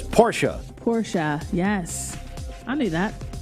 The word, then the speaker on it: Porsche: he just has informed me that I am pronouncing Porsche wrong. He said it's Porsche.